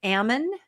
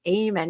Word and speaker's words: Ammon: His name is Ammon McNe.